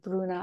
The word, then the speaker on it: Bruna: You say Bruna, yes? Oh my God, I don't want to butcher the pronunciation. Bruna.